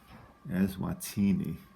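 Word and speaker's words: Eswatini: anymore for your dividers e-s-w-a-t-i-n-i and i believe it's pronounced as wattini as ini okay so there's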